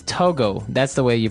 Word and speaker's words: Togo: So it's Togo. That's the way you pronounce it because if you look at it, I would say to go, right? But it's not to go, it's togo.